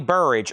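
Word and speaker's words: Burrage: in Ice Cube and Ronnie Buridge as in barriage of cannon fire or barrage.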